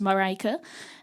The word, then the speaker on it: Marijke: My name is Marijke, which absolutely no one who is not Dutch knows how to pronounce. So I keep telling people it's pronounced Marijke, and that's now my company name.